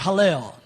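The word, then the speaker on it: הילל: The word for Lucifer in the Hebrew is Strong's number 1966, and it's pronounced Hallel.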